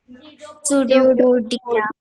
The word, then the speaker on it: pseudopodia: मैंने बोला था पी साइलेंट है, क्या है? Pseudopodia. Podia. इस पी को भूल जाओ, मतलब लिखना ऐसे लिखते वक्त में मत भूल जाना, फिर गलत हो जाएगा, ठीक है।